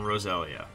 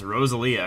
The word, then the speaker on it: Roselia: We go with Steel Wing on Graveler, and we'll go with Ember on Roselia. Or what I used to pronounce, Rosalia, because I didn't know how to pronounce things when I was younger.